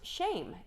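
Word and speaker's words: שֵׁם: the hebrew today and it's the hebrew word pronounced shame and it's 865 times and it means a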